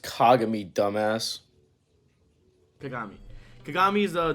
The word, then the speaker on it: Kagami: beginning to end uh kagami or kagame or kagumi kagami kagumi it's pronounced kagami dumbass kagami kagami is a dude from kuroko